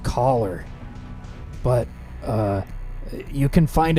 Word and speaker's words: Choler: It's pronounced collar, but uh you can